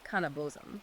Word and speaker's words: kaneh bosm: And one of those ingredients is phonetically pronounced "kaneh bosm".